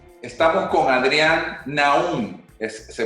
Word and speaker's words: Naound: Estamos con Adrián Naum. ¿Se pronuncia así? Naum.